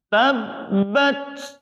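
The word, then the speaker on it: تبت: Sifat huruf ta yang paling menonjol adalah berdesis. Oleh sebab itu, tabbat ada desisnya. Tabbat.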